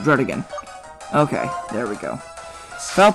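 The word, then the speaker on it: Druddigon: how to pronounce it according to the anime throat again dread again that's how you pronounce it dread again okay there we go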